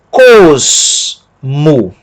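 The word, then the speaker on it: κόσμου: Kappa, som de K. Ômicron, som de O. Sigma, som de S. Mi, som de M. Ômicron, som de O. E Y, som de U.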